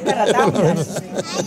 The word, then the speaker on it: Caratáunas: Pues Caratauna, terminando en S.